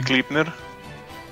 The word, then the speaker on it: Gleipnir: don't usually music you're using the gleipnir yes that is actually how it's pronounced yet nice is it